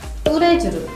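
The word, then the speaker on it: Tous les Jours: 뚜레주르.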